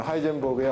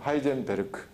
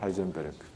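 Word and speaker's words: Heisenberg: 그러니까 나중에 이제 나오겠지만 하이젠버그의 언서튼티 프린시플이 있는데 그거를 하이젠버그라고 안 합니다. 그건 미국식 발음이고 본토 발음 뭡니까? 하이젠베르크 이렇게 얘기합니다. 하이젠베르크.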